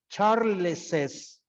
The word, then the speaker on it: Charles's: If the word or if the noun finishes with S, yes, I add an apostrophe, an S, and the pronunciation is Charles's.